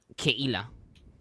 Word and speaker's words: Keila: Now, I will ask, first of all, how to pronounce this name. Keila? Keila.